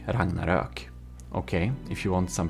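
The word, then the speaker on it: Ragnarök: he is Swedish and um it's called the Ragnarok. Ragnarok. Okay, if you want some pronunciation, there you know.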